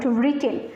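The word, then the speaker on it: written: কি উচ্চারণ হচ্ছে না ডব্লিউ টা কিন্তু উচ্চারণ হচ্ছে না তাহলে সাইলেন্ট লেটার হচ্ছে ডব্লিউ নেক্সট কোশ্চেন আসছি 21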